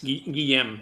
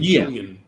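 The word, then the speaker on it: Guillem: That was Guillaume. You were pronouncing Julian. It's French for William. It's Catalan.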